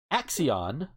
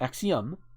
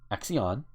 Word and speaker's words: axion: So some of the words around here include dits, chemical peel, control key, axion, not axiom, axion, axioff, improv, MDMA.